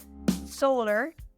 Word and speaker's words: solar: Solar, solar. In this example, we did the exact same as we did to lunar and lunar. So we moved to the stressed syllable to the last position.